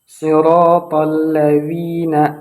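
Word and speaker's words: صراط الذين: Alladzi juga sering terjadi kesalahan. Kebanyakan orang menggunakan huruf zai. Namun yang harus kita gunakan di sini adalah huruf dzal di ujung lidah.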